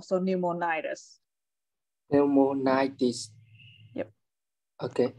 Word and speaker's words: pneumonitis: right so pneumonize and the stress is on the second to last syllable so pneumonitis yep okay it's a